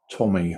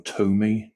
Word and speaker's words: Tomy: Yeah, 1992 Tommy or Tommy, depending on how you like to pronounce it.